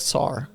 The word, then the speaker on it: tsar: or t-s-a-r yeah yeah like sar i said t is silent t-z-a-r-a what is czar